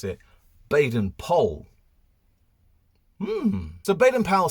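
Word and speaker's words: Baden-Powell: a bit of research and actually it's not bad and powell in fact we're meant to pronounce it baden pole so baden powell says this quote on remembering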